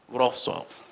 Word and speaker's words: Wrocław: She did her undergraduate from Poland in, how do you pronounce this? Huh? Wrocław.